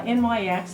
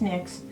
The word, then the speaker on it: NYX: now on a side note um NYX uh NYX as some people call it but it's pronounced NYX um they have changed their lip liners and